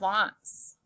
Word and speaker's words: wants: This is the word wants. The A has a heart because it makes the ah sound. Wants. We have to remember that by heart.